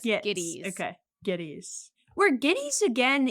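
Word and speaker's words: Gittes: Giddies. They say it both ways in the movies. They say it both ways. Oh, well, he intentionally, Noah Cross intentionally does that gits. And he says giddies.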